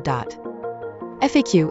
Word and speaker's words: FAQ: FAQ is a bit harder because I have heard people say it like an initialism, FAQ, while others pronounce it as an acronym/fake/.